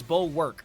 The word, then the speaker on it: Bulwark: Very weird pronunciation, but it's Bulwark.